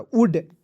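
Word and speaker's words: would: एक साथ रहेगा तो ओ यू के साथ आपको ओ को काट देना है छोटा ओ की मात्रा का प्रयोग करना है एल को काट देना है और डी को ड लिखना है शुड एस एच ओ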